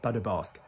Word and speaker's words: pas de basque: So, pas de basque, basque, not basque, pas de basque, pas de basque, basque. So, basque is the French pronunciation of the region, which is between France